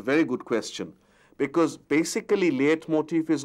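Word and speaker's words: leitmotif: languages liet motif although it's spelt l-e-i-t it's pronounced liath motif is also referred to as motif now you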